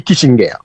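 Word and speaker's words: Kissinger: il caractérisé par la double défaite de Henry Kitinger alors dit ger prononcé en américain mais son allemand cri aux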